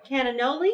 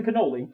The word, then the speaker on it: cannoli: this delicious looking pizza oh my goodness and cananoli is that what this is it's a cannoli cannoli cannoli i said it wrong that's okay